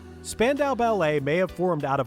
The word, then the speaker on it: Spandau Ballet: Spandau Ballet may have formed out of a love for